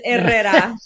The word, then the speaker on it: Herrera: Am I saying it right? Or should I be rolling my R's there? Yeah, but there's no H. There's Herrera. Herrera. There you go. I said it in the Spanglish English way.